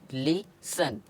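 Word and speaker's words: listen: हमेशा साइलेंट होता है जैसे एल आई एस टी ई एन तो इसको क्या पढ़ेंगे लिसन लेसन पढ़ेंगे तो इधर हमारा टी साइलेंट हो चुका है इसी तरह एम ए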